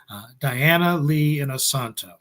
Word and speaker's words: Diana Lee Inosanto: And right now we have a fantastic, amazing guest from The Mandalorian and from Ahsoka, Diana Lee Inosanto. That's right. Did I pronounce that right, Gary?